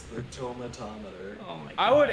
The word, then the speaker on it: tomatometer: The tomato meter? Fresh or rotten? I say tomatometer. Oh. Come on, Jack. You know what it is. Like thermometer. No, it's the tomato meter. Tomatometer. No. It's the tomatometer.